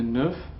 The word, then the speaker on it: neuf: The F in the neuf and the 19 will be pronounced as a V at the beginning of the next word, the okay?